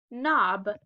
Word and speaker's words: knob: Word is knob. And the last silent letter team we have is GN.